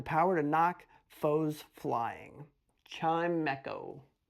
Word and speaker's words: Chimecho: I heard Chimico. It's Chimecho.